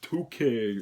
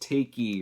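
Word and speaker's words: Taake: It's pronounced Toke," or it's pronounced Takey, or, you know, some shit like that. But I pronounce it Take.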